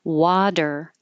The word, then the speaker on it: water: or not and the same word water voiced sounds on both sides you have your voice on you leave it on and the T changes to Du the second part of